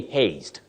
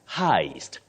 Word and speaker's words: heist: robbery we don't say haste this word is not pronounced as haste the way it is spelled you say Heist Heist Heist a bankk